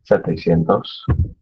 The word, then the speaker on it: setecientos: Almost completely follows that pattern, but instead of saying siete, it's sete, setecientos.